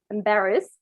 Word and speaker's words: embarrassed: So embarrassed doesn't pronounce the E, embarrassed. So you say the D directly. So it's embarrassed.